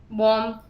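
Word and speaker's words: bomb: Similarly कॉम्ब, कॉम्ब बोल देते हैं, टॉम, बॉम्ब, बॉम्ब, बी पे फोकस नहीं करते, हम बॉम्ब बोलते हैं तो सेम बन जाता है।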